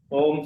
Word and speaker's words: ओम: का उच्चारण करना है ओम का उच्चारण तीन पार्ट में अ उ मैं इतना हो के लंबा गहरा ओम का उच्चारण करना है।